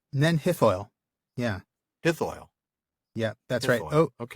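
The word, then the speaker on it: Nen Hithoel: And I'm going to maybe mispronounce this, but you're going to help me on it. Ninhethwell? Ninhethoil? Nenhithoil.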